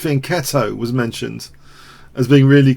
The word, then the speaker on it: fianchetto: And the fianchetto, pronounced fianchetto, was mentioned as being really clever.